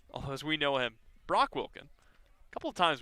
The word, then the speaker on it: Brock: It's Brock. It's not that difficult. Yeah, you wouldn't think. There's not an extra O in there.